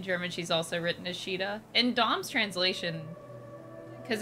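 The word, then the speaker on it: Shiida: Yeah, I guess the Japanese would pronounce that Shida, maybe. Yeah. And then in some translations, it's written like S-H-I-I-D-A, Shida. So I guess it's Shida, no matter what.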